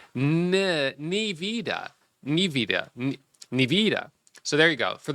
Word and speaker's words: Nevada: So some people said you got to really emphasize the E. Nivida.